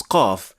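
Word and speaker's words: ق: Well, when we try to pronounce qaf but only performing the first action, so just the stoppage of air, it would sound like this.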